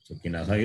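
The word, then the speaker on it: सुखिनः: when in that example, Sukinaha Visarga must be pronounced. You cannot drop it, or you cannot make it into a Jukhamaliya. No. Sukinaha is Sukinaha only. This is a common mistake people do.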